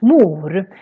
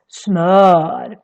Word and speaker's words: smör: But here it becomes really long because we have just one consonant coming after. So that's why it's pronounced as smör, smör.